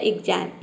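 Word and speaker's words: exam: यहां पे एक एक एक्स को हम क्या प्रोनाउंस करेंगे आधा ग और ज और ए का हो जाएगा आई एम का हो जाएगा म पूरा हो जाएगा एग्जाम एग्जाम का मतलब होता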